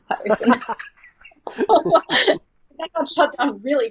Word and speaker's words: Pettersson: Vancouver, obviously, they have and I don't know if I'm supposed to pronounce it as Elias Peterson or Pettersson, because he made that fun video where he said, pronounce my name like an American. It's Elias Peterson. And then their broadcast team came out and said, don't do that. It's Pettersson.